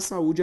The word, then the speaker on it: saúde: a penúltima palavra paroxítona Vamos separar saúde agora sa u de perceba que a sílaba tônica também é a penúltima ou seja uma palavra paroxítona só que Gente o